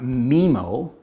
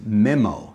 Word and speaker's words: Memo: put a message saying it's not memo as in the cousin of nemo it's memo so my apologies um